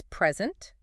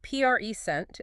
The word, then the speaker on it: present: Stress the first syllable P reent. It's a gift or right now. Okay. Stress the second present. It means to give or show something. Totally different meaning just based on stress.